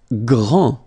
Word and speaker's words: grand: Grand, final day not pronounced, okay, gr, gr, gr, gr, and then the nasal en, grand, okay, and it means big or tall.